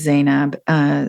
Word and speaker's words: Zainab: I'll spell it out for you. Her first name is Zainab, Z or Z, as we would say in Canada, Ainab.